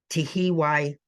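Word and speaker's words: Tuhiwai: Lopez referred to Linda, and I too may struggle on the pronunciation, Tehiwai Smith.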